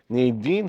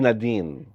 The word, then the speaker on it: Nadine: versus President Nine Lustre Nin ha that's how her name was pronounced by Senator Kiko Pangilan Nin po ang tamang pronunciation hindi Nadin Nin Soare ' ba yung